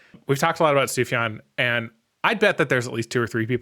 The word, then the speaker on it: Sufjan: Su is Sufi stevies you might you might mispronounce it because it's written Sufjan but if you say that out loud in front of people you're probably G to get judged yeah sufan sufan Stevens he's a musical artist